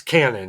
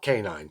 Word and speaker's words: Canin: We don't get a lot of comments on the Canon cat food, which is canned cat food. You can find it at PetSmart. They sell it on Amazon. And it's Canon, not canine.